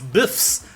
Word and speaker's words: BFFs: got her doggo back also you said it wrong it's biffs all right we're halfway